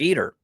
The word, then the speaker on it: Eder: of the 2024 season Jake eer or Eder depending on how you like to pronounce it I think he still